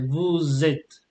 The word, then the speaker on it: vous êtes: And you should do the liaison whenever it's possible. For example, here you say vous êtes, yeah, vous êtes.